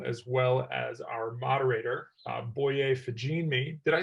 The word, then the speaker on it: Boye Fajinmi: So for our next session, I'd like to introduce Reed Haley, Derek Lucas, and Amanda Marino, as well as our moderator, Boye Fajinmi.